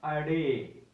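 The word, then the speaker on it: ڑ: आप इसको मिला लेंगे तो ये बन गया रे, के बाद आ गया अड़े, अड़े आ गया, जिसे हम डे कहते हैं, असल में ये इसकी प्रोनाउंसिएशन है अडे।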